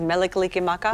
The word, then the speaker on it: Mele Kalikimaka: Am I saying it correctly that the name of the song is Mele Kalikimaka?